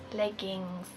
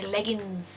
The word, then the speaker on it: leggings: Leggings. I should probably pronounce that correctly instead of how the Irish people pronounce them. Irish people say leggings, like L-I-L-E-G-G-I-N-S, leggings.